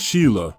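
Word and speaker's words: Sighle: a film producer, and Sigel, pronounced Sheila, Lancaster.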